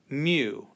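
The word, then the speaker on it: μ: mu and it looks like a cross between a u and an m and it's a mu and i sometimes write that out as m y u to kind of give you the idea how to say it a mu anyway that's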